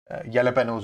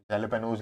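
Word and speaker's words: jalapeños: European countries जो होती है वहां पे जे साइलेंट होता है, ठीक है। जैसे येलेपेनोज होता है, जेलेपेनोज लिखा होता है, आपने पिज्जा ऑर्डर किया हो तो जेलेपेनोज लिखा होता है, लेकिन वो जे साइलेंट है, येलेपेनो है, ठीक है।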